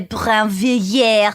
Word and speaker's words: Brinvilliers: Just to kind of keep up Kenyon's air of Kenyonness, I will say that she would have pronounced it Madame de Brinvilliers.